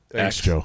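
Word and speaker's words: Æ: I mean it's just a show letter X and then the AE is like pronounced ash what yeah and what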